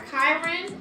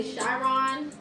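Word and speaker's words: Chiron: all right then we have our Kiron or some people say shyon just depends on how you say it it's all the same this represents your deepest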